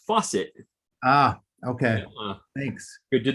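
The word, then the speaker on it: Facit: dan in sweden said that facet is actually pronounced faucet ah okay thanks good to know i know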